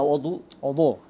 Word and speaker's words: অজু: অথবা বাংলায় কেউ যদি ইফতার বলে অথবা কেউ যদি অজু বলে, আসলে অজু না, অদু।